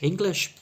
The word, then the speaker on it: English: English, by the way, has 1 letter I, but has 2 short I sounds.